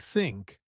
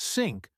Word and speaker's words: think: The TH sound in words like think or this. A lot of learners replace it with S or D, so think becomes sink or this becomes dis. Totally. And that can cause confusion. A good trick is to lightly place your tongue between your teeth and blow air out.